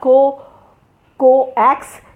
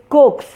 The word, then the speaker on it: coax: And it is not coax, it is coax, and that is albeit.